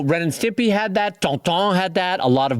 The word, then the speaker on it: Tintin: this really well, where Tonton, I should say, let's pronounce it correctly, not Tintin, Tonton.